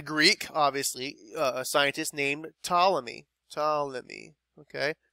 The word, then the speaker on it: Ptolemy: obviously, a scientist named Ptolemy. Okay, the P is silent, and sometimes you'll see this called the Ptolemaic theory. All right, and so that right there. Aristotle said it. Ptolemy said it.